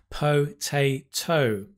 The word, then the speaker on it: potato: Take, for example, potato. Potato, right? We stress the second. And notice what happens to the first sound. Po becomes p.